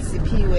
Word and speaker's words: Siphiwe: To spell Siphiwe. Yeah. Okay, S-I-P-H-I-W-E.